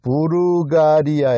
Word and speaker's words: 불가리아: 불가리아 의 발음 은 부르가리아 입니다 .